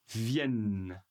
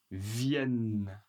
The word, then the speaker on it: viennent: Ceci n'est pas prononcé mais attention, le N est très long. Il y a deux N.